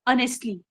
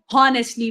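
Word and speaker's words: honestly: अगर हमें यहाँ पे नहीं पता कि एज को हमने साइलेंट करना है या इसकी साउंड हमने थोड़ी सी मिनिमल रखनी है तो हम इसको हॉनेस्टली पढ़ेंगे। लेकिन वेरिएशन है इंग्लिश लैंग्वेज में, हमने एज को साइलेंट पढ़ना है, हम साइलेंट रखना है और ओ से प्रोनाउंस करना है ऑनेस्टली।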